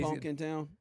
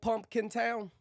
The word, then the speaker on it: Pumpkintown: It's called Pumpkin Town. Yeah. To other people. Now, if you're from there, it's Pumpkintown. Is Pumpkin. what? Pumpkin. No M. No, the second P is silent.